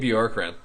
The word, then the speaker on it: Bjorkgren: But on the other hand, a coach that I really stood out to me was Nate Borgen. Is that how you say it? Nate Bjorkgren.